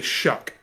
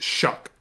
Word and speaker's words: Shough: This is how it's spelled, and that is how you say Shuck. What do you mean that doesn't say shoe? SHOUGH. SHOUGH is how it's spelled, and it's pronounced Shuck.